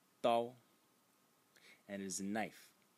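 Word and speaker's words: 刀: of writing this character over here, which is pronounced dao.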